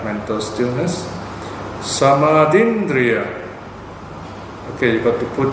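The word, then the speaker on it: samādhindriya: Samadindriya. Okay, you got to put the apostrophe there, which is missing. Samadindriya is a dharma conducive to awakening. It brings about awakening. Right? S-A-M long R-D-H apostrophe Indriya.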